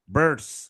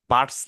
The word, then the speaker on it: birds: Birds, আমি কিভাবে উচ্চারণটা করলাম? Birds, বার্ডস না কিন্তু birds, birds, ব er দ birds, মানে এটা কি আর কন্ট্রোল ভাওয়েলে আমরা শিখছি বার্ডস।